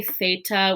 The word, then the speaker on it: theta: Now we typically say theta with a th, but a lot of times in Greek pronunciation, this is more of what we call an aspirated T sound.